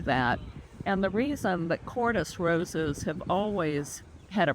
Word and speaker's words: Kordes: Bliss Parfuma is one of the Parfuma series of roses developed by one of my personal favorite rose breeders called Wilhelm Cordes. That's spelled Kordes.